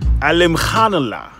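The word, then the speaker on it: Alimkhanuly: spelling of his name it is alim khan allah if you want to say it correctly anyway so the thing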